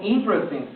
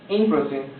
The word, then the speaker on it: interesting: caso tenemos interesting fíjate yo no quiero que pronuncies interesen esta e vamos a representarla con el vacío fonético de manera que no la pronunci es la supres Entonces yo digo interesting interesting y beautiful para decir